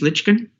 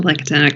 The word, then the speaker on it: Lichtsteiner: these issues uh miss lichkin and and i apologize if i've mispronounced the name a little bit that's all right no worries it's lichtsteiner good morning chair barrett chair